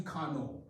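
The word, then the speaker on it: Carnot: engineering tied to a french guy called Sadi Kano you could look him up his name is spelled c-a-r-n-o-t okay let me draw you a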